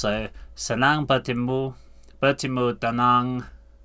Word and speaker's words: dengan: That G doesn't sound pronounced, so senang bertemu dengan dengan.